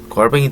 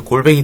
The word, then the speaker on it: 골뱅이: 자, 예를 들어 통조림 만드는데 자, 꽁스이 통조림이 있고 그 다음에 걸뱅이 통조림. 자, 발음 유의해주세요. 자, 걸뱅이라고 하면은 그지란 뜻이기 때문에 자, 골뱅이 통조림이라고 하자. 자, 각각에 들어가는 자, 꽁스이 그리고 걸뱅이가 아니라 골뱅이.